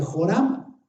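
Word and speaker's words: ὅραμα: griego jorama jorama y ahí está escrito en griego y así se pronuncia jorama y según el diccionario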